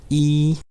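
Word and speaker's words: 一: It is written like this, just one line starting from left to right, and it is pronounced as E, E, E.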